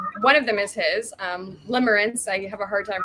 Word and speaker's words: Limerence: One of them is his, Limerence. I have a hard time pronouncing.